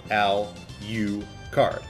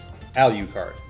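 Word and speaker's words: Alucard: It's Dra-Q-la, spelled and pronounced backwards. Al-U-card. Al-U-card.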